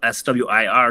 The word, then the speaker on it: SWIR: And so it's all capital, S-W-I-R, so they are pronounced as SWIR or M-W-R, you know, I-R as well.